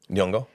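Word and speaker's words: Nyong'o: um she's voiced by Lupita L yongo yeah yongo yeah that's what I was saying I'm sorry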